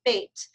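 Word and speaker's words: بيت: Well, phonetically, if you want to say, it's bait in Arabic. B like in boy, E-I-T like in Tom, bait.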